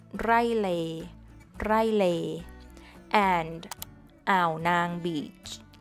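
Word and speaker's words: อ่าวนาง: Lay, Rai Lay, and Ao Nang Beach, Ao Nang. This has a total of two syllables, so don't break it down more than that.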